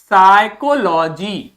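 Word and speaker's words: psychology: पे यानी कि हमें ओ को हल्का प्रोनाउंस करना है और फिर लिखा है जी तो क्या बोलेंगे साइकोलॉजी क्या बोलेंगे साइकोलॉजी साइकोलॉजी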